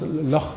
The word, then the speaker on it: Loch: In Scotland and Wales, they pronounce Loch Ness, it's called Loch Ness. They don't call it Loch Ness, they call it Loch Ness. They have the ch sound.